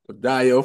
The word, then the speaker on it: Dayo: Dayo for short.